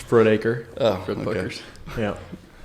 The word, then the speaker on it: Frudaker: you pronounce her last name. Fudraker? Frudaker. Fudraker? I've heard worse. Frudaker? That's a hamburger joint, ain't it? That's right. Blood puckers? It's Frudaker.